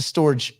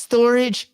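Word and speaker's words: Storj: anyway yeah oh is is it pronounced storage the company's pronounce storage stupid the token is stor J because there's no AG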